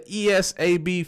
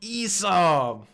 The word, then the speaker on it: ESAB: But the best hood I got is a ESAB fixed shade.